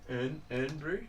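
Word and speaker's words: Irn-Bru: No, it's like IRN. Yeah. Like urn brew. It's Scottish. But I think that's how the urn brew.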